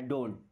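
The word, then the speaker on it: don't: hello डोंट go outside डोंट लिखते तो हम डोंट है बट ट को थोड़ा सा कम ही बोलना है डोंट डोंट गो मींस जाओ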